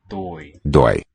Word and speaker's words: dói: Dói. Dói. Open O.